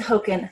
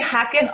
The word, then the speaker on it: Hoken: And how do you say, is it Hoken? It is Hoken. Okay. I say Haken often, but it's Hoken.